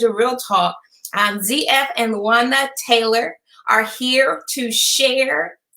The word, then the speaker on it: Luanda: And am I pronouncing that correctly? Luanda, right?